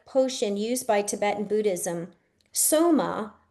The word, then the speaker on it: Soma: Soma S O M A is the enthnogenic elixir used by Indian Buddhism as recorded in the Rig Va Amrida.